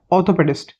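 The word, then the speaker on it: orthopaedist: spelling है इसकी ओ आर टी एच ओ पी ए ई डी आई एस टी ऑर्थोपेडिस्ट आर का pronunciation नहीं होता वैसे इसके अंदर इसका प्रोन्सिएशन होता है ऑर्थोपेडिस्ट ये एक डॉक्टर है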